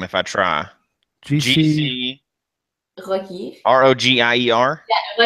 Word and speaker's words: Rogier: Says I'm going to mispronounce the name if I try. GC Rogier. ROGIER. Yeah, Rogier.